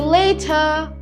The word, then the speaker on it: later: See you later. See you Later. থার নাকি যেন বললা? Later. Yes. The R is silent.